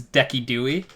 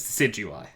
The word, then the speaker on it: Decidueye: So the YouTuber this is not the right pronunciation, but the YouTuber always says Decky Dewey. Decidui? Yeah, because like he pronounces things like Arcanine, right? He calls Arcanine Arcanine. He purposely just says things wrong. And I like it. His real name is Decidueye.